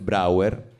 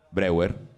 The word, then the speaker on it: Breuer: Quindi, diciamo che siamo a Vienna, nel 1880, c'è Joseph Breuer, credo che si pronunci così. Breuer. Breuer, vedi , Breuer? Oh beh, perdonami, è tedesco. Sembra il comitato.